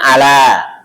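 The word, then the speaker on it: أَلَا: Kalau nggak ada tasdidnya maka bacanya ala. Tapi kalau ada tasdidnya bacanya Allah.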